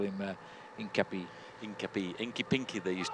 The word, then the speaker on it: Hincapie: And George, they call him Hincapie, slightly different pronunciation to what we call him in American.